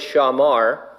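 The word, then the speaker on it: שמר: There's a Hebrew word, I pronounce it shamar.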